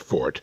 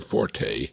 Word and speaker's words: forte: strong points our fort incidentally that's pronounced fort never forte as the uninformed would have us believe forte is an italian musical term what is your fort